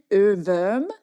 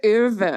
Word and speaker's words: Ohrwurm: didn't know, the term earworm comes from German Ohrwurm. Wow. Yeah, Ohrwurm. Nice pronunciation, by the way.